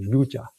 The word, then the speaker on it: yuj: Actually, the Sanskrit word is called yuja. Y u ji.